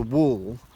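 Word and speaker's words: whorl: a name for that and that's called a wall which is spelt WH o RL and when you find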